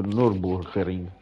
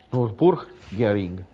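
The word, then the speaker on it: Nürburgring: mi ha mandato il whatsapp di come si pronuncia nord borgarino ha esalato giudici non bulgari noi dice nurburgring nurburgring io dico dure una risposta è colui che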